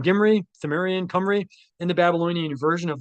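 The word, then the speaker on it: Cymry: This is why the Welsh call themselves the Kimry, pronounced Camry to this day.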